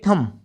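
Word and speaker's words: thumb: Coke T एच वी एमबी थम थम माने अंगूठा।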